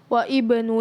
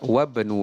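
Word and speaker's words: وَابْنُ: Ibnu Ammarin talibun wa ibnu Yasirin tajirun. Ya, lebih tepat wabnu Yasirin tajirun. Secara struktur bacanya benar.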